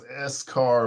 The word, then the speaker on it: Escar: My name is Escar. It's pronounced like a French dish. Um, es cargo.